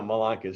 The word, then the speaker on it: Malanka: Well, my last name is Malanka, and people go Malanka. I'm like, no, Malanka.